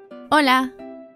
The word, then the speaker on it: hola: please repeat that hola hola you can hear that the initial H is silent hola the next word is